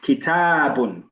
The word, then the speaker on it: كتاب: Remember to pronounce that alif. Kitabun.